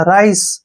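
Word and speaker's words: rice: उच्चारण हम नहीं करेंगे लास्ट में ई आता है तो उसका उच्चारण कभी नहीं होता राइस राइस मींस क्या होता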